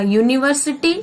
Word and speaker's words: university: He studies in a university in New Delhi. Here U is vowel, but it is from consonant sound because the letter U in university has a Y-O-U, U pronounce, U sound.